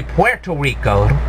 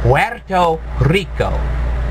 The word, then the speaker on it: Puerto Rico: it's actually Puerto Rico actually I should say it right Puerto Rico Puerto Rico yeah you can tell I I don't pronounce Spanish as well as everybody else I'm sorry I don't do the rolling RS the way they should be but live in if